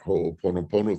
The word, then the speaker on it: Ho'oponopono: So it's HO'OponoPONO.